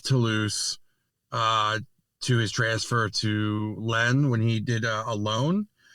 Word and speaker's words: Lens: I said Lens and it's Len.